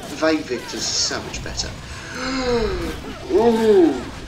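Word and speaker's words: Vae victis: how to pronounce it, because I'm pretty sure Ve victus is actually incorrect. Because, you know, Latin U's were W something or other, I don't know. So it could actually be pronounced Way Victus, which seems less impressive.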